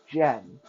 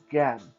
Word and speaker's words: Gen: It is Gan. Okay, Gen is pronounced Gan. In Mandarin, anytime you come across the letter G, the pronunciation is g, g.